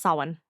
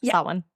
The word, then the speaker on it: Samhain: Oh, Samhain. That one. Wiccan Halloween. Yeah, it doesn't look like it should be pronounced that, but it's, Samhain.